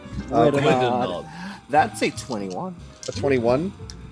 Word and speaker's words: Gwiddonod: Gwiddonod.